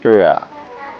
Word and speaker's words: Praia: It's a cute Praia. markets That's how you pronounce it.